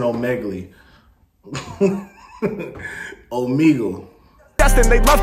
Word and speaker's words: Omegle: Your camera's a Omegle. Okay, that's how you pronounce it. I'm saying Omegle.